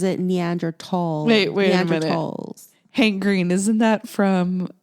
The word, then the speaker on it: Neanderthals: Homo sapiens but I don't know anything about neanderthals or the de ocean I thought it was Neanderthals no no no it's been mispronounced for years it's neandra talls at least that's how um Hank Green pronounces